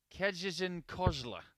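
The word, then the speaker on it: Kędzierzyn-Koźle: I have had a text from my good friend Dagmara Smith, and she has assured me that the right way to say Sebastian Steyer's hometown is Kejizin Kozla.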